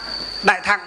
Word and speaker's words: thặng: Thừa, chữ thừa ở trong chữ Hán đó, nó là gì? Đọc là thặng. Chữ Hán, nguyên âm chữ Hán là đọc là chữ thặng, đại thặng.